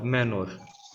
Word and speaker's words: manor: MANOR, मैनोर। ठीक है, pronounce करो मेरे साथ इसको।